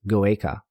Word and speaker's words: goeika: Most Mahayana traditions in East Asia will also have hymns, known in Japanese as goeika. This is spelled G-O-E-I-K-A, and you can look this up online as well.